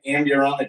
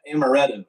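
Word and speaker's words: amarena: Amber they make an ambulana cherry.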